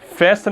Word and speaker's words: fasten: Fasten é apertar. Fasten. Olha só, você fala fasten. Fasten. Então a sílaba forte é essa aqui, tá?